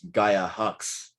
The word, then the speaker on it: Gaia Hox: Uh, my name is Gaia Hox.